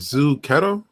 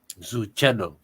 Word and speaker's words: Zuchetto: I don't know how to pronounce. Is it Zu Keto? Zuchetto. Zuchetto. Nice meeting you.